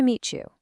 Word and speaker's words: meet you: The T and the Y sounds blend together. Nice to meet you.